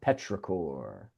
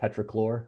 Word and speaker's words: petrichor: Petrichor. I thought it There's was an good. L in it. No, no. Although that almost sounds like a cleaning product, petrichlor, right?